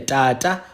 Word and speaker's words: tata: Tata, rara, tata, rara. The only difference is that tata is ejective. So it's like it shoots. Ta, ta. Whereas rara is a trill.